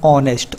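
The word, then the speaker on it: honest: तो दोस्तों यहाँ पर जो आपका वर्ड है ना ऑनेस्ट, ये इसका प्रोनंसिएशन ओ से स्टार्ट होता है, तो यहाँ पर जो साइलेंट लेटर होगा वो होगा आपका एच ऑनेस्ट में।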